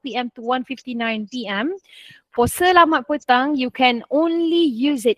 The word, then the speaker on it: Selamat petang: How to pronounce this? Selamat petang. Very good. Selamat petang.